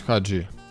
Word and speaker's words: Хаджі: грнь відат георгі хаджі Ми кажемо хаджі але я чув що румуни кажуть хаджі Тож де ж істина у Вікіпедії правильно Вікіпедія теж пише що наголос на А хаджі ну що волкаут легенду